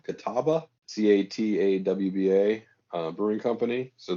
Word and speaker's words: Catawba: uh it's a brewery called i'm going to pronounce this wrong catawba catawba c-a-t-a-w-b-a uh brewing company so they're in uh